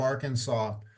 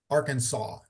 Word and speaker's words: Arkansas: of the state of Arkansas from the introduction of class the S is silent Arkansas so it it sounds like sa aw saw Arkansas but that's how it's